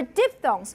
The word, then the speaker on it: diphthong: So, and then the diphthong, N. So, I'm actually going to also talk about diphthongs. Here, I'll show you the text later, but for diphthongs, what's the definition of, how do you call